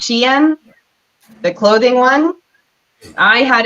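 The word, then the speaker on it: Shein: an issue with um I called it Sheen at first but it's pronounced Shen the clothing one I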